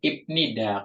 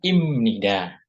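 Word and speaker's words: 입니다: m tuh ya oke Opa Jelaskan lagi kenapa dibacanya imnida OP ya karena huruf P ketemu dengan n maka dibacanya m tuh ketemu dengan n maka dibacanya m tuh Ya ini ini ketemu dibacanya m Jadi dibacanya imnida ya dibacanya Im imnida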